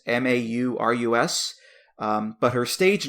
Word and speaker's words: Maurus: My next pick here, this is an artist, I believe her name is pronounced Elizabeth Morris, Maurus.